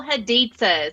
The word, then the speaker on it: Hadadsiz: Hadidsaz. I tell people it rhymes with pizzas.